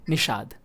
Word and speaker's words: Nishad: Okay, so you spoke it right, Nishad. Even if you are speaking Nishad or Nishant, any pronunciation of my name, the image in your head is my only, no?